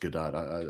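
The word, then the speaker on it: Gadot: You know, I always like to pronounce her name GDAU. It does sound It sounds more fancy. Gdat sounds too staccato sounds too rough. I don't know, but I know it's pronounced Gdat. I still want to say GDO.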